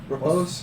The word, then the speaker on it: riposte: Is it riposte? Repose?